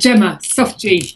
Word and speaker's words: Gemma: how are you doing doing very well it's pronounced gilma am i right and gema gema okay that's even prettier that's better that's